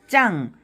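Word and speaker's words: จัง: 깽 하나는 그 다음 짱 요거는 쌍지읒 발음이거든요 짱 평성입니다 평성은 똑바로 소리가 나죠 짱 짱 짱 굉장히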